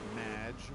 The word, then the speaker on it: Madge: However, you have mispronounced my name. It's Madge, which rhymes with badge.